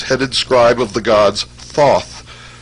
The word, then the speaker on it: Thoth: scribe of the gods Thoth pronounced taehu T the so-called Emerald Tablet